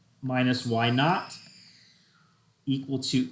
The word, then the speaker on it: naught: x minus x naught when you see a sub zero that is pronounced not so y sub zero is y naught x sub zero is x naught okay so this will